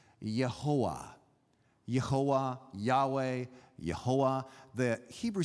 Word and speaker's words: Jehovah: same word, because Jehovah, we mispronounce it in English, Jehovah, because unlike almost any other language, we say J and V, J and V, Jehovah. But in most languages, you would pronounce this Yehovah.